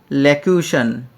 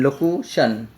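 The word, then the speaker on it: circumlocution: তারপর হচ্ছে সারকাম ল্যাকিউশন। এটাও কিন্তু ভুল আছে। তাহলে সঠিক উত্তর হচ্ছে চার নম্বর। সারকাম লোকিউশন সারকাম এল ও সি ইউ টি আই ও এন লোকুশন তো আমাদেরকে উচ্চারণের সাথে মনে রাখতে হবে স্যার কাম লোকুশন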